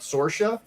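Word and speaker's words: Saoirse: Eric July, he's got that book out, Sorsha. And it's spelled Saoiris.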